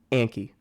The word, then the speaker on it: Anki: But by the way, it's pronounced Anki.